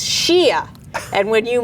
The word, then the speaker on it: Shea: up and asked it, and was introduced as Shay Diamond. And she says, "It's Shia." And when you mispronounce a trans person's name, that is a violent act.